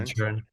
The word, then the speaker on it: Inisherin: Of Of Inisherin. Inisherin.